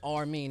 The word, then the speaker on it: Rmean: The name is Armin. That's spelled the letter R and then mean, like a mean motherfucker. RMEAN.